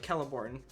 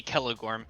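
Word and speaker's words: Celegorm: don't care i think my sister always pronounced that kelliborn but there's no bee or this this is yeah it would be kelligorn he's one of the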